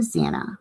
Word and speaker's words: Xana: I am Zana, pronounced Xan. Xanax without the X is how the petite brunette introduced herself to the Pi or Pises on the first day, and everyone laughed.